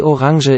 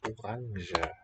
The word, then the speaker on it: Orange: Die Orange. He's got a voiced j, but not all speakers have that. You might hear it orange, I suppose. But I think I more often hear orange.